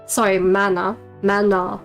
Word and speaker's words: manhwa: manga or manhwa review, mana review, that's the Korean pronunciation, mana review, it makes me think about certain things.